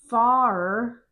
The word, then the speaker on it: far: Far. You have to say the r. It's this kind of a like in father.